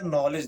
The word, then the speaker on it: knowledge: आप लोग देख लीजिए सबसे पहले क्या नॉलेज देख लीजिए।